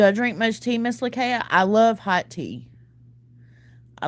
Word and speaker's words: Lakaya: You can also pronounce it Lakaya, too. But I grew up with it being Lakaya.